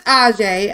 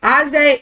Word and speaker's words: A'Jae: So, this is Ajay, all right? And it's spelled A'JAE, Davenport, Ajay.